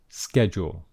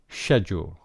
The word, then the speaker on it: schedule: schedule and in fact this has two different types of pronunciation and this is the american pronunciation schedule schedule okay but there is also a british english pronunciation schedule schedule okay so here